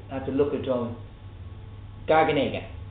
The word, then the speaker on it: garganega: in Suave is H gaggar oh I always pronounce this wrong I have to have to look at drawing garganega garganega is the name of the grape and it's